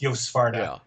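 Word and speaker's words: Joost Swarte: yeah, I saw an interview with Yo Svarta, who's it's spelled Juiced Swart, but it's Yo Svarta.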